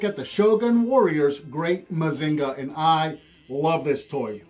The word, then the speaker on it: Mazinger: a mazinga because uh in the show again it's mazinger but they would pronounce it mazinga so they just renamed